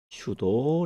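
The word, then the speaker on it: pseudo: 영어로는 슈도 랜덤이라고 합니다. P가 있는데 P는 무금이라서 발음이 되지 않습니다.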